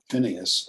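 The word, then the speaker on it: Phinehas: he pronounces their names hofney and and phineas is what we do in american english um but if it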